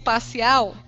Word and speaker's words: parcial: Quando eu pronuncio parcial, qual é a que demora mais tempo sendo pronunciada? Dá uma chamadinha em parcial. É o ao, né?